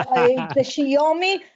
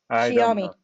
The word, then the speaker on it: Xiaomi: It's the Shiomi.